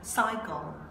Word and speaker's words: psycho: Rồi, ở đây không có chữ âm này, âm p nó bị cong đi ha, nó sẽ là cycle. Cycle. Cycle. Để đọc là cycle ha.